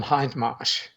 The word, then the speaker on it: Hindmarsh: So basically everyone in Australia knows that John Hindmarsh, pronounced that way.